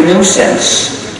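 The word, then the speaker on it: gNewSense: another recursive acting and there is a nuisance which is written G new sense but that's a joke also you see in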